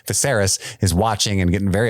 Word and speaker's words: Viserys: deeper into the party visceros sorry that's my old pronunciation when I was just reading viserys is watching and getting